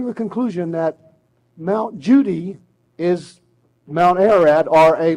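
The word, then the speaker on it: Cudi: And when you see a C in Turkish, it's pronounced ja. So C-U-D-I, Kudi, is pronounced Judy.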